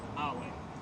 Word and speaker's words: Iowa: Is this pronounced Iowa? Iowa.